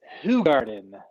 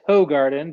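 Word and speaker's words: Hoegaarden: beer we will do who garden often pronounced hoe garden but if you want to be accurate it is technically who garden and tonight it's called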